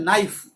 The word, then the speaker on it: knife: ऐसे हमारा एक वर्ड होता है नाइफ, तो नाइफ की स्पेलिंग होती है KNIFE, नाइफ। लेकिन हम उसे कनाइफ नहीं बोलते, उसे हम नाइफ बोलते हैं, KNIFE।